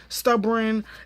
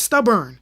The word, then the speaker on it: stubborn: episode like I mean stubborn escapegoat it's stubborn stubborn stubborn b o r n not b r a n like come on